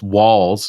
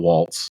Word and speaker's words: Walz: uh that Tim Walls it's Walls w a wz not W TZ not Waltz uh that uh Tim